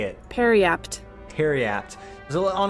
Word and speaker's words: periapt: Periapt.